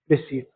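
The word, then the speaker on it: receipt: है फिर option B रिसीव और इसमें पी जो है वो साइलेंट होता है। रिसीव पढ़ते हैं।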